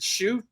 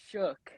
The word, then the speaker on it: Schuch: Is it Schuch? No, it's Shook. Like Shook.